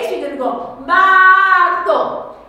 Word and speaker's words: marzo: If that Z is a TH, how do you think you pronounce that? Muy bien, that's right, well done, it's Martho, isn't it?